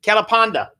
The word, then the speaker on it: Kelapanda: to win 50 dollars tell me how you pronounce his name and you can win it it is kalapanda close that's correct yeah correct yeah i win